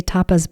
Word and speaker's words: tapas: By the way, occasionally when I say tapas bars, people think I'm saying topless bars. I'm not. Tapas is spelled T-A-P-A-S.